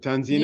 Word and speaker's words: Tanzina: So, uh, by the way, Tanzina, am I pronouncing your name correctly? Is it Tanzina? Yes, you are.